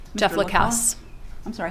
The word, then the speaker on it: Lacasse: Jeff Lacasse. I'm sorry, how do you pronounce it? Lacasse. Lacasse.